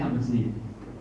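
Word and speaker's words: Schlumberger: Sebagai contoh, Slumberger, tulisannya Slumberger, tapi bacanya Slumberjee.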